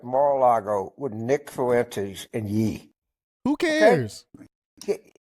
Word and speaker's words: Ye: Trump had dinner at Mar-a-Lago with Nick Fuentes and Yee. Who cares? Okay? And it's Ye, not Yee. If you go talk trash, try to get the name right.